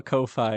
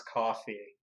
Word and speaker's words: Ko-fi: show, I'll have a Ko-Fi or similar app set up for it by the time of release. I think it's supposed to pronounce coffee because it's like supposed to be buy me a coffee.